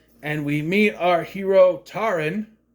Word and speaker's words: Taran: And we meet our hero Tarin, spelled like Taran, but it's pronounced Tarin, who lives with Dolbin.